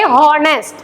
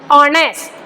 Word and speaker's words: honest: We have to से ऑनेस्ट, डोंट से हॉनेस्ट. H is silent here. In both these words, H is silent. Honest. We have to start with O.